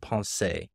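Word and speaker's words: Pensées: reading from blae Pascal's I think it's pronounced Pon I don't speak French but I think that's how it's said um and that means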